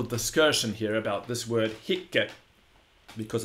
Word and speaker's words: hic: If you look in the Latin dictionary, the one that's used for writing poetry, you will notice that it has a long syllable, which is given in the Latin poetry dictionaries by a little line over the I.